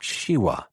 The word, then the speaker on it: Shiva: preserver shiwa the Destroyer he pronounced Shiva as all balones did so that it sounded like shiwa he hesitated a moment